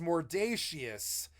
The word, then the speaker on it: mordacious: But I think of it as mordacious because it's like we pronounce conscious, or I'm conscious of this decision, right? It's the ending of the word conscious, which is the same fucking word as conscience, essentially.